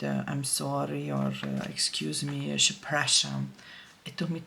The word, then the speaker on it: przepraszam: And the same goes with I'm sorry or excuse me, przepraszam. It took me 2 weeks to be able to say przepraszam.